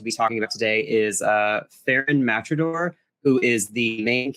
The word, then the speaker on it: Pharun: And it's pronounced Pharun, is that right?